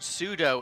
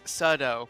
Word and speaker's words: sudo: yeah by the way it's not pronounced pseudo it's sudo but you know whatever